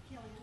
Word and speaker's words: Killian: Killian.